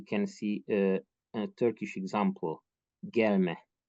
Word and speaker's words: gelme: see a Turkish example, gelme. If we stress the second syllable, then it will be a second person prohibitive, don't come, and gelme will be a noun of action, coming.